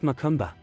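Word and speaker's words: macumba: they call it makumba here pronounced makumba but it is really sad to see all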